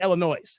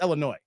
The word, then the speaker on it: Illinois: illino illo I had it's Illinois the S is silent guys stop saying Illinois it's Illinois there's this town called Lamont right Lamont is